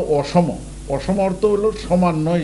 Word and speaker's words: অসম: ভারতের একটা এলাকা আছে যার নাম হলো অসম। ইংরেজিতে যাকে বলে আসাম। কিন্তু এটা হলো অসম। অসম অর্থ হলো সমান যে এলাকা পাহাড়ি এলাকা। অসম।